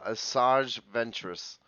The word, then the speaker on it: Asajj Ventress: yeah this one i don't know how to pronounce okay uh yeah actually you you nailed it uh asajj ventress um yeah of course i nailed it that's